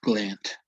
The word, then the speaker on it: gland: Uh, the same concept is used in this word, gland, not gland. It's gland, right?